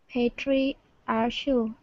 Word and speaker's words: patriarchal: Patriarchal. That's going to sound like a K.